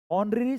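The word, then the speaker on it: honorary: ऑनरेरी secretary one हु इज not paid for ह services ऑनरेरी secretary ऑनरी में एच है बट यह as silent है तो एन आएगा एन ऑनरेरी सेक्रेटरी एक जो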